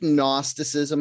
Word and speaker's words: gnosticism: question do you think gnosticism has anything to do with gnarly because it's spelt gn that's the silent gn yeah yeah uh yeah